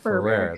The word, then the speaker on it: Ferrer: I should do it phonetically. Ferrer. Think of like a rare fur and then switch it. There you go. Ferrer.